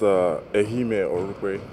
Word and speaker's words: Ehimen Orukpe: It's pronounced Ehimen Orukpe.